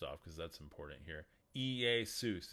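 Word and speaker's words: Iēsous: Iesus is how you say it. E-E-A-Y-S-O-O-C-E. That's where you get Jesus. The transliteration is L-E-S-O-U-S. But you say it Iesus.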